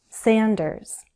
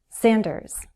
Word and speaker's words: Sanders: Sanders, with a Z sound at the end, Z, Sanders. Warren.